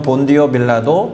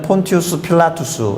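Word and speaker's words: Pontius Pilatus: 먼저 살펴볼 인물은 빌라도에 우리말 성경은 본디오 빌라도 그리고 아까 우리가 암송하고 고백했던 사도신경에 본디오 빌라라고 발음하고 기록해 놓았지만 원래는 폰티우스 필라투스 이죠 티오스 필라투스 사람은 일단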